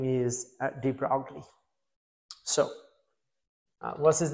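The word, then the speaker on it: de Broglie: uh uh is spelled like is you know sometime I say drogley it's actually his French so it should be dro that's how you should pronounce his name dro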